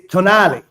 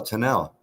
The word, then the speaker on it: Tonnelle: It's Tonale. Tonale. It's an Italian word.